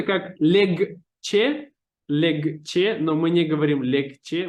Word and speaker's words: легче: это пишется как легче, но мы не говорим легче, мы говорим легче.